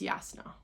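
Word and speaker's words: Jasnah: I think it's pronounced Yasna.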